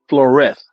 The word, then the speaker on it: Flores: And so they always pronounce it Flores, like a TH.